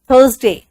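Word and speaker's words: Thursday: थर्सडे, are silent है यहां पे, THURS में आर साइलेंट है.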